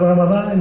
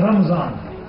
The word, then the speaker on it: Ramadan: In this particular month of Ramadan, inshallah, we will try to correct the pronunciation of our daily usage of Arabic. It is Ramadan, it is not Ramzan, Ramadan.